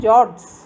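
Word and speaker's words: fjord: can even call it f is silent where and jords you can say jobs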